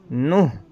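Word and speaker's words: نه: سات، ہشت معنی آٹھ، نوح یہ اس کا تلفظ صحیح تلفظ ہے نوح.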